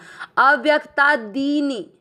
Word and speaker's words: अव्यक्तादीनि: दी की मात्रा बड़ी लंबा खींचना है, दी। नी की मात्रा छोटी नहीं खींचना। अव्यक्ता दीनी। देखो दी और नी में मात्रा के उच्चारण में कितना फर्क है। हम दी को खींच रहे हैं, नी को नहीं। दीनी, दीनी नहीं कर रहे हैं, दीनी।